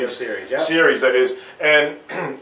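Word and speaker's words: Albio Sires: the opportunity to interview Congressman Albio, if I'm pronouncing his first name correctly. Albio Series, yeah.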